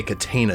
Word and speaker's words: Catena: Okay, Catena is how you pronounce the city name.